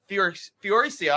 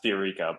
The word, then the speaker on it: Fiorica: We are going to start off with new caller, Fioricia. I'm sorry if I mispronounced that. Did I get that right? Close. It's actually pronounced Fiorica, but Fiorica, I apologize.